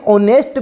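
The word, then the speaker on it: honest: ही इज ऑनेस्ट मैन, ऑनेस्ट एच से मत पकड़ लेना, ऑनेस्ट प्रोनाउंसिएशन से पकड़ना। प्रोनाउंसिएशन क्या हो रहा है, ऑनेस्ट हो रहा है, ए आ ई, ऑनेस्ट हो रहा है, तो एन लगेगा यहाँ पे, एन लगेगा, ऑनेस्ट है एन लगेगा।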